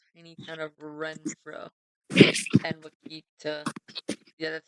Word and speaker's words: Wakita: I think there's a little fire near the little tiny town of Renfro and Wakita.